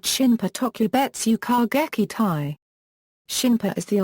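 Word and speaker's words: shinpū: More specifically, air suicide attack units from the Imperial Japanese Navy were officially called Shinpa Tokubetsu Kōgekitai.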